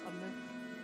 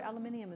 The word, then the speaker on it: aluminium: We do not pronounce aluminum. Aluminum is not a word. Aluminium is a word.